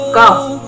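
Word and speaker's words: ك: 22 adalah huruf kaf. Pelafalannya adalah ka.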